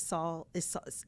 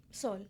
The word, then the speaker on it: Sol: When you just said, and I just learned this now, that the last, was it Saul? Tell me how to say it. Sol.